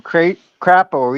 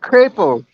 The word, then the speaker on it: Crapo: And his team didn't appreciate me calling them crapo either. Oh, they corrected you? Yeah. I told him. I'm so sorry. It's how it's spelled. That's how it's spelled. It's not hyphenated. It looks like crapo to me.